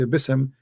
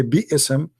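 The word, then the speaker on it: بسم: So if each time when I say Bi-ism, they have to say Bism, they say Bi-ism, that is not nice. Bi-ism, you know, you're excusing yourself. That's all. You cannot say like that.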